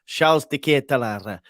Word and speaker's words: Charles De Ketelaere: I remember my pronunciation. Charles De Ketelaere.